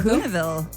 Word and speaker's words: Kahuna: Kana Kana Kahuna like big kahuna like Hey, you were just in Hawaii, weren't you?